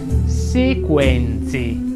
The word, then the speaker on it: sequenze: Sequenze vuole una delle tre E aperta. Sequenze.